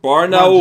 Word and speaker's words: Barnaul: Barnaul. Just say it right. Barnaul.